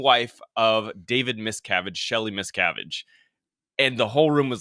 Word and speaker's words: Miscavige: and I also think he butchered the last name which even made a little more confusing for people he said like miscarriage or something like he he didn't say the name properly so a lot of people